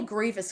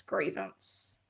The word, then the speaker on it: Grievous: Yes, it's pronounced Grievous. I freaking hate that character. I always have to stop and go, "Grieve Grievous? Grievance?"